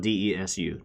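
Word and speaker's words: です: The actual term is Omae wa bakades, which is spelled D-E-S-U, des.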